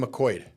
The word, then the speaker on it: McQuoid: I am here with Tami McQuoid. Yes. I said that right. You said it right. But it's spelled. Yeah. McQuoid. It's the 3 vowels in a row. It throws people way off.